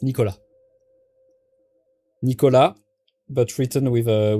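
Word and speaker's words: Nicolas: But as most thing in France, you don't pronounce the S at the end. So it's Nicola.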